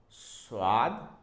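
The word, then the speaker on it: ص: coming to this one this one is s swad SW there is no Dot and when there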